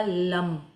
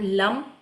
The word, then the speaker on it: लम: मंत्र है वो होगा लम। इंग्लिश में एल ए एम लम और हिंदी में ल और ऊपर बिंदी लम।